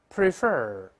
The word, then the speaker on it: prefer: 我们把中心动词再读一下 prefer，重音在第二个音节，再来一遍 prefer。